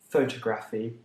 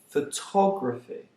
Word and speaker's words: photography: say photography and photographer deriving the stress from the word photo that's wrong they aren't pronounced photographer or photography they are pronounced photographer photography and incidentally that's the